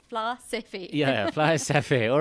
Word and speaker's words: Flysafair: Yes, How do you say it? Flysafair. There you are. Your SA Fair, it's Flysafair.